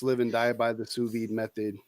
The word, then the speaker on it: sous vide: A sous vide cooker. Sous vide cooker. Yep, sous vide.